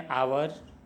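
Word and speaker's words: hour: के पहले होता है जिनमें पहला अक्षर एच साइलेंट हो और जोर वावे पे दिया गया हो। जैसे an honest man, N honourable man, एन आवर etcetera.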